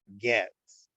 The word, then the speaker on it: Goetz: So with me this evening here is Bracha Goetz, and that's Goetz. And you pronounce it as if the O does not exist.